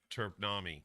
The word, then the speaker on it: Terpnami: Terpnami. Turpman. Nami, like a tsunami, Oh, but yeah.